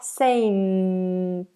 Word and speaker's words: saint: Then you have the N, front of the tongue up. Saint.